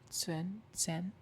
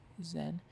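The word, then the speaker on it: zehn: So like in the word sen, which means 10. It's not zen. It's sen. And remember the h is silent here because it's in between a vowel and a consonant.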